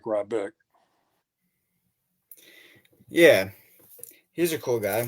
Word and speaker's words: Ryback: How do you pronounce Rayback? Oh, Ryback?